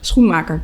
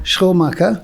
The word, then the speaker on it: Schoenmaker: Schoenmaker. Schoenmaker.